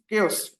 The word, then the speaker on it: chaos: chaos it's not chaos it's not chaos okay it's chaos okay how you will spell it yes you spell it like k o okay Kos so um this is